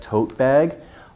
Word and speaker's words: tote bag: Tote bag, long vowel. Stress on the first part.